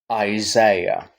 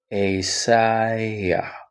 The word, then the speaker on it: Isaiah: When you come to where the dot appears, you're going to prolong that sound before you continue to the next. So it's almost like beginning soft down, a sigh, yeah. You notice? Hi, yeah. Isaiah. Pause, prolong, and then each of this is pronounced.